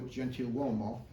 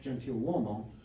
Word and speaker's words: Gentiluomo: This is a pension application card for principal musician Vincenzo Gentiluomo. And as you can see there at the top, the name is often spelt with an N, Gentiluomo.